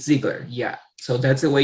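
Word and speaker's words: Zeigler: just tell them, okay, so you spelled your last name Z-E-I-G-L-E-R. Okay, and then they will tell you it's Ziegler.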